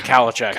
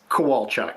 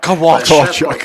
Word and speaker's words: Kowalchuk: I've always just said Kalachak. Is that how you say it? It's Kowalchuk. Kowalchuk. No. Kowalchuk.